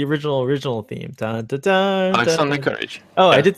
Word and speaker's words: Alexander Courage: Dun, dun, dun, Alexander Courage.